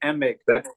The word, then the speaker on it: Emig: and Michael Dan Emig I think it's pronounced e h m g Emig so they they're using